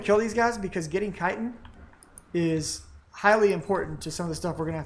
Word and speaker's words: chitin: actually pretty silly easy I mean chitin that is how it is pronounced almost to the next